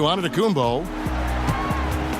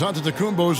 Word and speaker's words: Antetokounmpo: In the Greek way, you gotta say with a D, so it's Antetokounmpo. But in the Greek way, you say with the NT, like Antetokounmpo. Whatever you got, just say, it's Giannis Antetokounmpo.